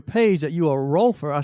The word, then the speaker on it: Rolfer: Jeff is a Rolfer. Did I pronounce that correctly? Rolfer, yeah.